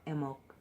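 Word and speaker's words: Imbolc: makes a strong appearance at the time of mbonga or a milk if you pronounced it correctly I always brought that on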